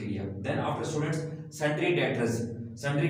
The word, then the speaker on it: debtors: Then after students sundry डेटर्स। Sundry का मतलब तमाम, डेटर्स, डेटर्स स्टूडेंट्स इसमें बी साइलेंट है।